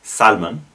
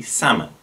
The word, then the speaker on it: salmon: the word salmon and this often gets pronounced with the l so salman but it should be salmon an example of this